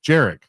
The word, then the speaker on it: Jerick: Jerick. It's It's Jerick with a J.